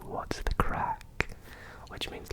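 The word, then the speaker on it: craic: first one for you but crack is spelled c r a i c yeah like crank what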